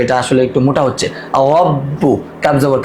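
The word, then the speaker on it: ربك: রব্বু, কাব জবর কা, রব্বুকা, রব্বুকা।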